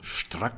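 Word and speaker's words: Strack: He was German, so Struck would be the right pronunciation.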